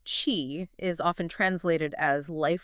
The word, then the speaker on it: Qi: of key right now Chi pronounced Chi is often translated as